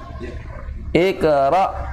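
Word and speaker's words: اقرأ: Kerok Iqro Iqro Iqro itu itera gitu biasanya Iqra Bismi rabbik jangan Iqro lembut ya hari Indah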